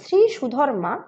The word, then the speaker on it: থিরিথুধম্মা: আরাকানরাজ থিরিথুধম্মা বা তৎসম উচ্চারণে শ্রী সুধর্মা ছিলেন এই অঞ্চলে।